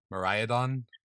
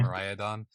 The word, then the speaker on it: Miraidon: How do you say this damn thing? Miraidon, Miraidon, yeah. Miraidon, and Koraidon.